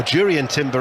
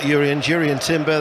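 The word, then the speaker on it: Jurriën Timber: But in fact, it was Jurrien Timber, or Jurrien Timber, as we're told that he wants to be pronounced, not Jurrien Timber, the Dutch international, versatile, signed from Ajax for £34 million.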